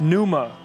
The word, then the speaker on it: Pneuma: How do you pronounce that? Pneuma.